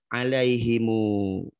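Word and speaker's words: عَلَيْهِمُ: Jadi dibaca alaihimu. Jadi dibaca 2 harokat itu mim jamak.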